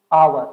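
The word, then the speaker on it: hour: तो यहाँ पर आर्टिकल की बात करें तो आवर, आवर क्या है, नाउन है, लेकिन इसका जो प्रोनाउंसिएशन है वो आ से स्टार्ट होता है, जो कि वॉवेल साउंड हो जाएगा।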